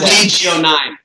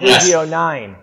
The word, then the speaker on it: Legio: Lost Legio 9. Lost Legio 9. We've been debating how to pronounce the Legion with a missing N for 3 days. Well, that's how the Romans pronounced it.